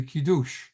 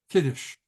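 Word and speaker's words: Kiddush: and we do the kidou kides remember there's always two ways to pronounce everything in in in Judaism everything is Yiddish or um or Israeli Hebrew um I just had this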